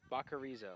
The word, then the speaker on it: Bacarizo: Say that name one more time. Bacarizo. Bacarizo. Bacarizo. I gotta get that.